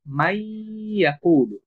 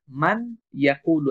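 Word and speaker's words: من يقول: ফলে এই নুনটা তখন অনুচ্চারিত থাকবে এবং ইয়াটা দুইবার উচ্চারণ হবে, এবং আমরা তখন পড়ব মাই ইয়াকুলু। তখন কিন্তু আমরা বলবো না মান ইয়াকুলু, এমনটা বলবো না।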